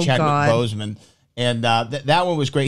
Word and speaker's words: Chadwick Boseman: For me, his best mispronunciation, and rest in peace to the late great in JTE's mind, Chazwick Boseman, I think is what he said for Chadwick Boseman.